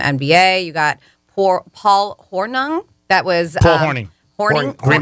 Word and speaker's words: Hornung: one from the NBA you got poor Paul hornung that was uh morning Green Bay Packers morning